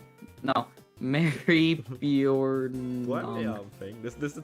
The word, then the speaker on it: Maribyrnong: Timmons, I don't actually know fully how to actually pronounce that one either. Bjorn. Pardon? Hold on. Mary Bjornog. No, Mary Bjornog. What thing? This is the town name. Mary Bjornog.